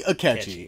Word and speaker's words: Akechi: And it rhymes with his goddamn name. Sketchy Akechi.